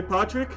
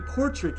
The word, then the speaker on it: Patrick: looks like pck okay Patrick I was saying portrack it's Patrick first of all I apologize